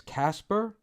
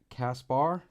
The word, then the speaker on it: Kaspar: Casper cap Cass Casper I'm mispronouncing it as Casper like all the time but it's actually Kaspar cost cost bar in Swedish we would say like Casper so so so